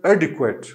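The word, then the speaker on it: adequate: That is pronounce as एडिक्वेट, एडिक्वेट। एडिक्वेट, ये भी long ए से शुरू होगा, सॉरी, ये श्व साउंड से शुरू होगा, डी क्वेट, के डब्ल्यू, फिर श्व sound and then T, एडिक्वेट, ठीक है।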